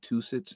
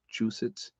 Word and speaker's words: Massachusetts: I always say two-sits, and it's chew-sits. I hope I said that right.